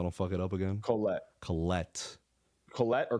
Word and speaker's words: Collette: Collette or Coletti. I don't. It's COLLETTE. To the pronunciation officers, let us know.